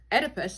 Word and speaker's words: Oedipus: Electra, the girl is in love with her father, and Oedipus starts with the O, but it's pronounced Oedipus.